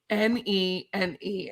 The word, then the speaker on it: Nene: Circle or Boulevard in this neighborhood it's n ne ne and it's pronounced Nene and Scott Reed did it the